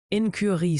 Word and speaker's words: incurie: Incurie se prononce incurie.